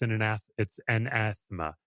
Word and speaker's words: anathema: I feel it's anathema.